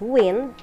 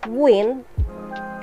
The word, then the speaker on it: wind: Some homographs are also pronounced differently, such as the word wind, which may be pronounced as wind, means the movement of air, or wind, which may be pronounced as wind, which means to turn, twist, or coil.